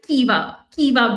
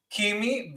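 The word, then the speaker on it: Caoimhe: It's apparently Kiva Bray. It's an Irish name. No, it's an Irish name that has a pronunciation like that.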